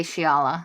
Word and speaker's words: Xiala: death of the crew xiala is that how you say her name in the audiobook they say shiala she becomes like i